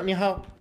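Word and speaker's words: 你好: Hola, en chino es ni hao, pero se pronuncia ni ha. O sea, como que la O es impronunciable.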